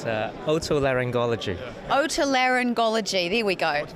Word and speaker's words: otolaryngology: now by 3 doctors, and they're going to pronounce the name properly for me, because what is it called, your field? It's otolaryngology.